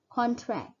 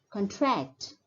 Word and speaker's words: contract: So for the word used as a noun, the stress is more on the first syllable, contract, contract. Whereas as a verb, the stress is more on the second syllable, contract, contract.